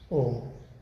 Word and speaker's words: ओम: ओम का उच्चारण बोला, इसमें म को लंबा बोला, जैसे ओम। ये भ्रामरी की है। अब हम उद्गीत करेंगे। उद्गीत में ओ को लंबा बोलेंगे।